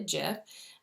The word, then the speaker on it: GIF: seems funny that I would call it a jiff and but the person who actually developed the